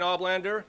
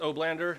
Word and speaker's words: Oblander: all right thank you my name is oblander sometimes pronounced oh blander if you're reading it on the phone uh it's up to